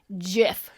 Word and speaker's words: GIF: But so according to the creator of this thing, it is pronounced GIF.